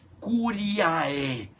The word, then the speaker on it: curiae: Amicus curiae. Se escreve A-M-I-C-U-S, amicus Ah, isso aí fica até estranho, né?